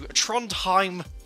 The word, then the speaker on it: Trondheim: in Estonia flight from the capital talent to Trondheim figure that's how it's pronounced in Norway our first ever time on